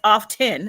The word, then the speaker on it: often: Come on, often, and everybody says often, and the T is silent.